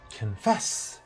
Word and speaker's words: confess: in three 2 one it is confess you see it's not confess look at the fast syllable it's not a it's confess and the second syllable is a stress both in American and British confess and what is the